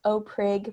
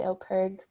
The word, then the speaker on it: OPIRG: of peterborough um some people i think it's pronounced oprig but it's actually operg but you can call us really anything um